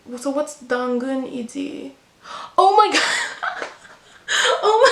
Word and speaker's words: 당근: And then the Korean word for carrot is 2 syllables. 당근. 당근.